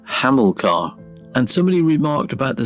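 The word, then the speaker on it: Hamilcar: criticized quite strongly for mispronouncing the Hamley car when in fact it should have been haml car and somebody remarked about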